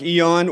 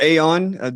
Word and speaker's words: aeon: title of my book dark Eon or Aon depending on how you want to pronounce it uh dark Eon is really a a a nod to gnosticism uh the gnostics that I know personally tend to say Aon in regard to the Divine beings and so maybe um